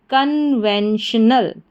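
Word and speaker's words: conventional: फिर से देखें CON कन, VEN वैन, TIO श और NAL नल। तो पूरी स्पेलिंग हमारी क्या बन गई? कन्वेंशनल।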